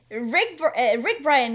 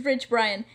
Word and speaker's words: Rich Brian: Rick Bryan is such a cool dude, right? We actually came across. Isn't his it pronounced work.